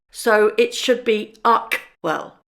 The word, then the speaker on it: Archewell: Hold on, if it's a Greek word, the CH should be pronounced K, so it should be Archewell, not Archwell.